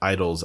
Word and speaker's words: IDLES: You know, I found this really cool band called Idols, IDLES. And it's there's kind of Like idling a car. Like that's how it's spelled.